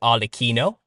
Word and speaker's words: Arlecchino: Now, originally, the Italians pronounce it Arlecchino.